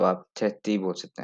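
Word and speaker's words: trettio: तो आप यहाँ पे देख सकते हैं कि यहाँ पे थ्रेथियू लिखा हुआ है, लेकिन थ्रेथियू इतना कहते हैं प्रोनाउंसिएशन, थ्रेथियू नहीं बोलते हैं, यहाँ पे थ्रेथी बोलते हैं, मतलब जैसे ओ बेसिकली साइलेंट होता है, तो थ्रेथी।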